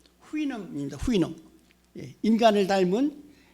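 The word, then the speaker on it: Houyhnhnm: 이 발음 보세요. 영어에 이렇게 자음이 6개, 7개 겹치는 경우가 없거든요. 모음도 하나도 없이. 그래서 발음을 어떻게 할지 굉장히 아주 난감합니다. 그런데 대개 영미 사람들은 그걸 후이놈이라고 발음을 합니다.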